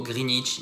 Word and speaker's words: Greenwich: it ch donc voilà on oublie le w on colle le mot greenwich nickel et non pas